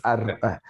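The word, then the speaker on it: ἄρτος: It starts with an but the per, no, it's not a per, it's a row, the r. But the one that looks like P, like pizza. Yeah, it's artos.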